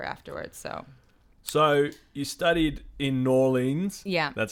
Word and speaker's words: New Orleans: I went to school in New Orleans.